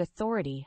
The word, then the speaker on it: authority: first word is Authority the word Authority has four syllables with the stress on the second syllable Authority is a noun